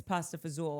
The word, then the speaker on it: pasta fagioli: And I'm like, ooh, what's pasta fagioli? And my sister's like, it's pasta fazool.